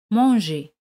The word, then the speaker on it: manger: verbo comer fran verbo del primer grupo manger mang e r et r se pronuncian como espagnola manger r al final non se pronuncia ahora es comido ou comi J'ai mangé.